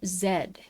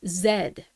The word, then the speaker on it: Z: ef wx y n zed. We aren't children. No, this is this is legitimately how it works. Like it's just pronounced zed.